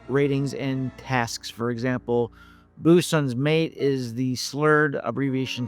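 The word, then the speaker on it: boatswain: In postw World War II films and TV, it was common to have correct pronunciation of rank ratings and tasks. For example, Boson's mate is the slurred abbreviation term for deck handling sailors, short for boat swings, but pronounced bosons.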